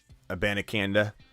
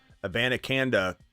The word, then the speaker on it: Abanikanda: Abanikanda. Abanikanda is a really good running back, and I think eventually he does take over the backup role.